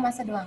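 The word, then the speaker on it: macédoine: disebut dengan masih doang Tulisannya beda ya dengan pengucapannya tulisannya macedoine dibacanya masa doang ini biasanya digunakan untuk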